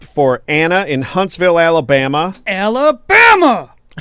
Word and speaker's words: Alabama: Alabama! You got to say it like Forrest Gump.